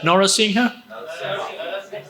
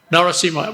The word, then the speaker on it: Narasimha: Norasingha? Norasingh. Narasimha. We say that in Thailand, Norasingh.